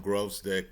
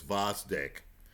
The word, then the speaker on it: Gvozdyk: Now Vasdik, Alexander Vasdic, right? Sometimes I call him Grovesick because I'm prone to mispronouncing names. Uh, the proper pronunciation is Vasik. It's spelled G V O Z D Y K.